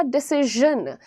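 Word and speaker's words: decision: अच्छा, एक और चीज़ है, इसको बहुत सारे लोग कहते हैं डिसीजन, ये सारे गलत हैं। प्रोनाउंसिएशन क्या रहेगा? डिसीजन, ज। सो दैट इज ज और श का मिक्स, दैट इज डिसीजन।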